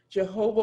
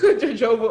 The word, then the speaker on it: jojoba: would um drizzle your jehovah oil pronunciation jehovah oil jojoba oil or your tree resin